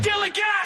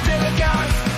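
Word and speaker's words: DILLIGAF: A word, Gilligan, that's spelled D-I-L-L-I-G-A-F, Gilligan.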